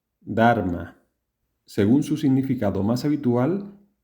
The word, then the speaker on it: Dharma: ¿Cómo se pronunciaba Dharma en la antigua India según las reglas de pronunciación del sánscrito? De esta manera. Dharma.